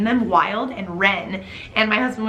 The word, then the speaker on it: Wilde: The first name is Wild. It's spelled W-I-L-D-E, like Oscar Wilde.